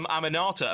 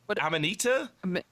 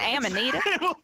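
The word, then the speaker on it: Amanita: the company because I I call it the Aminata apparently that's not Right. It's a minute or ammonita.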